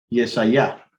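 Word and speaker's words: ישעיה: Yo quiero que leamos el profeta Isaías. Yesaya, como debe ser pronunciado su nombre.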